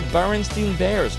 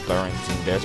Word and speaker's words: Berenstain: Then there's also the Berenstein Bears, which I'm affected by.